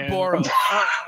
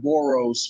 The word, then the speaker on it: Boras: It's not Boros. Pronounce it right, will you? Oh, I'm the one. Learn how to pronounce the guy's name. He's only been Scott Boras for, I don't know, 5 years now.